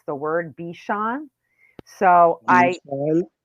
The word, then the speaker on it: Bichon: So Bishan. right. So Bichon is spelled Bichon, but in my book, I spelled it out phonetically, what like a B, like Beeshon.